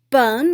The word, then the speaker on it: 本: Ben means root.